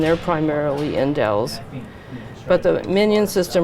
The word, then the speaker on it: MinION: sequencer the Oxford nanopform minion or min ion actually as they pronounce it and So this